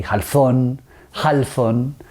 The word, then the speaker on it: Halfon: and the last name the pronunciation of my last name goes many many ways it could be had fun - it's an Arab name my grandfather's from Lebanon so however you want I have been here